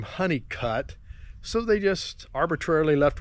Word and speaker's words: Hunnicut: Now there's a funny anecdote here about the road Honeycutt, as it's spelled Hunnicut, and their name has two T's.